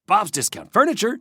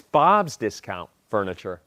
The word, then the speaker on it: Bob's Discount Furniture: the Campy and Bob's Discount Furniture. Uh, it's Bob's Discount Furniture. It was Bob's Discount Furniture. Bob's Discount Furniture. What? You're putting the emphasis on the wrong syllable.